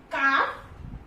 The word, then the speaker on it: calf: So L is silent when it is used after A, O and U. Okay, example: calf, half, balm, should, could, would and for.